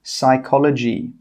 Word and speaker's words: psychology: The letter P is often silent when it comes at the start of words which start with PN, PS, and PT. For example, psychology.